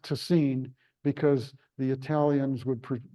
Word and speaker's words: Tessin: us who aren't linguists often might call it tessin it's t SS i n but it's pronounced toine because the Italians would pronounce it tacino TI